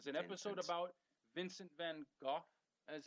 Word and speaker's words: Van Gogh: This is an episode about Vincent van Gogh, as it's pronounced.